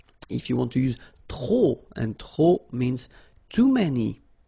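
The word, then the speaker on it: trop: you want to use tro and tro means too many okay then you will have to put the and the noun without the article okay remember too many don't pronounce the final pay to the and the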